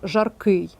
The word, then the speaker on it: жаркий: речі так само жалюзі варіант в жаркий чи жаркий звісно прикметник на ий має бути закінчення наголошене значить Правильно жаркий і варіант г дочка чи